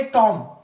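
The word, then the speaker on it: tomb: female body फिर उसके बाद हमारे पास है टॉम टॉम यहां पे भी क्या है हमारे पास साइलेंट है जो हम लोग कहते हैं मकबरा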